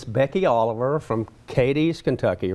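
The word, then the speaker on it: Cadiz: guest here today and it's Becky Oliver from Katie's Kentucky right that's correct Cates that's how you pronounce it not over by the lake and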